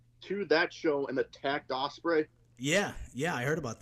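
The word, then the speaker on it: Ospreay: versus Willow spray how do you say it Osprey Osprey okay listen again the video that just came out from the the Rev Pro Show today where Jericho went to that show and attacked Osprey yeah yeah I heard about that um I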